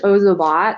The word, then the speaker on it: Ozobot: pronunciations going on so it is ozobot like ozone and ozone but is the brand